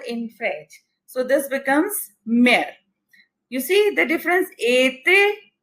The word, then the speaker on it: mère: So this becomes mère. You see the difference? Été, mère. Here we are pronouncing E, A in a very short breath, and été we are elongating the E sound.